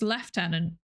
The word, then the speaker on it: lieutenant: I believe it's pronounced lieutenant. What? Oh, that's the... Okay. That version of lieutenant sounded more US versus lieutenant.